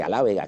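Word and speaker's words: alábega: Por ejemplo, en castellano es albahaca y bueno, pues en las tierras murcianas se dice alávega, que está más próximo a la lengua árabe original, aljápica, que el mismo albahaca.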